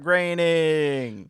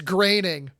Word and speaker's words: Groening: DUDE, that's Matt Groening. I love when this the the the secretary is like yes, Mr. Groening. It's Greening. Are you sure?